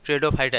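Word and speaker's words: Pteridophyta: पी है silent, P ट्रेडोफाइटा नहीं है, सिर्फ ट्रेडोफाइटा इसको बोलिए आप लोग।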